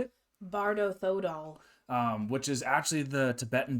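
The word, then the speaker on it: Bardo Thödol: Number 3, Bardo Thodor, or how do you say it? Bardo Thodol.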